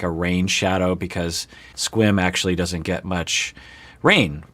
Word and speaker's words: Sequim: squim wash it so a lot of people might think you pronounce that sequim which is rational to think but it's squim which is nearish to